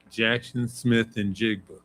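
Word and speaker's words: Jaxon Smith-Njigba: Jackson Smith and Jigba.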